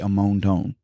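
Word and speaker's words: Amonton: It's spelled A M O N T O N. But it gives you in the parenthesis how how to pronounce it. And it's quite quite literally ammon.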